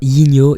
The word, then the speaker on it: Yinio: Souvent les gens ont du mal à le prononcer, donc c'est bien Yigno, Y-N-I-O, voilà.